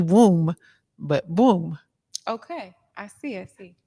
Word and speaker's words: Bwoom: i say b but it's like you know how you say broom but instead of r it's a w so it's boom kind of like a b womb but boom okay i see i